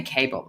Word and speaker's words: Kaebel: I would say Kaebel. Is that how you say it? Absolutely, yeah.